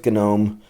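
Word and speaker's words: GNOME: this many uh stick with KDE stick with gome that's how it is pronounced if you're just following along uh for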